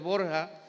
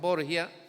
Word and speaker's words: Borgia: De hecho su apellido es Borja, pero ya en el latín pues lo pronunciaban Borgia y así se quedan para la historia.